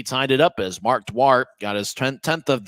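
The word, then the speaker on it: Duarte: and 170 pounds out of Spokane Washington so dwart scored 1438 and I've seen other people with that sort of spelling d a r te and they're they usually pronounce it dwarte but um um you know that's just what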